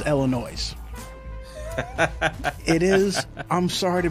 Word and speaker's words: Illinois: it now I know this aggravates Illinoisans but technically speaking it is Illinois's it is I'm sorry